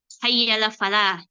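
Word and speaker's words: حي على الفلاح: Hayya Al Shah dan Hayya Al Falah ya jangan ditasdid ya Hayya Al Falah ya Soalnya kalau ditasdid nanti beda arti harusnya Hayya Al Falah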